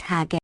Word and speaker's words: hajja: The feminine hajja, in Egypt pronounced hagga, is similarly used.